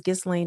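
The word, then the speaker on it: Ghislaine: I don't know if it's Gain or Gain, but I think the S is silent.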